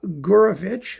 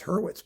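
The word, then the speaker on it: Hurwitz: They are by uh Gurovich, who's it's Herurwitz, by the way. Gorovich is just the the the Russian pronunciation of the name because there's no aspirated H in Russia.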